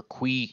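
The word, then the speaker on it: qi: doing those to get more chi gems or qui gems as i've learned it is pronounced let's move these down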